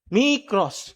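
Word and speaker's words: μικρός: Sabi po mic cross. Mross. Micros. Gann po 'yung pagkaka ah ano ba tawag doun ka?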